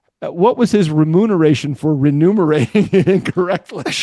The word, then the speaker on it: remuneration: are number one, remuneration is correct. Rememberation is the wrong pronunciation and the wrong spelling.